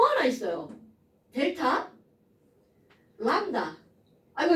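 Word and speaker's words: λ: 그리고 읽을 때는 뭐라고 읽어주냐면 이거 저기 한자어 아니에요? 람다. 그리스어입니다.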